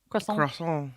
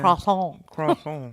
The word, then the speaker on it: croissant: Croissant. Yeah. Croissant. Croissant. You have to like have that like nasally.